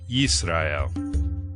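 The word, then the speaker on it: ישראל: In the Aleppo Codex, vowel pointings in the form of dots and dashes are placed above and below each letter to represent the vowel sounds, providing the pronunciation Yisrael.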